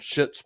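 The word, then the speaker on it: Schits: It's called Shits Plumbing. But it's not spelled like S-H-I-T-S. It's spelled like shits. S-H-S-C-H-I-T-S.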